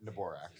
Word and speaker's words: Neborak: Neborak.